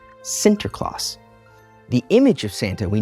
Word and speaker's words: Sinterklaas: As the Dutch speakers slowly intertwined with the English-speaking colonies, the saint's name became an alteration of the Dutch pronunciation, Sinterklaas.